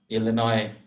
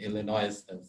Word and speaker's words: Illinois: That's when I learned that Illinois, you don't pronounce the S in Illinois.